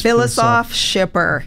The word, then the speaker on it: Filosof-Schipper: easy but let's again your last name you pronounce it is Phyllis off shipper soft a few names